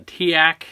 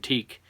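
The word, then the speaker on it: TEAC: to reel and uh tiak somebody told me that's how you pronounce it i always said teak so y'all tell me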